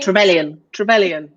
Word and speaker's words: Trevelyan: Am I pronouncing that right? Trevelyan.